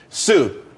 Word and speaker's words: tsu: Sue, TSU. It's pronounced Sue though.